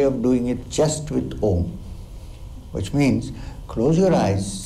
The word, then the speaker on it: Om: your ears and chant Om like this. Close your ears and chant Om. lot of stress on the last part also, ma sound.